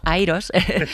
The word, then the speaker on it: IROS: Eh, en el 2018 organizamos en la Universidad Carlos Tercero de Madrid una conferencia que se llama Iros. Bueno, en inglés la la pronunciamos como Airos, Airos 2018.